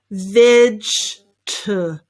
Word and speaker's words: vegetables: length, and they say vegetables or something like that. No, that's not right. Let's simplify it. It is just vegetables. 3 syllables there, that's all.